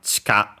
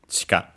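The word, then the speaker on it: 地下: If you follow the rule that we move the accent to not keep it on a syllable, on a mora with a vowel barely heard if at all, then it would become chika. So the accent on the ka.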